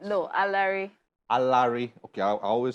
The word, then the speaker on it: Alaere: wow they're a lyric alert is how you pronounce this name right no a larry a larry okay i always said i will